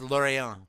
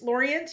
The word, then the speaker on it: Lorient: so close to Quebec I see it as lauron exactly how you pronounced it as the name of the town but because we were canadianized it we're calling it Laurent yeah well is that right he was you know it's Laurent Laurent yeah because I mean